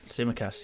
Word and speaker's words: Tsimikas: I have got 3 at the minute, and it does include Tsimikas. I think that's how you say it. Tsimikas, yes.